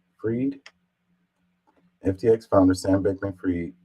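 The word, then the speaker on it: Fried: founder Sam bankman fry how do you say his name freed FTX founder Sam bman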